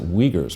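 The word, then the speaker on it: Uyghur: a minority group that they don't like they pronounce it wiegert's but it's spelled you i gu u u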